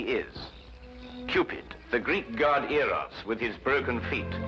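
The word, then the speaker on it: Eros: influence of cockney stagehands she added an h where there shouldn't have been one what then spell it as she spelled it but without the h e r o s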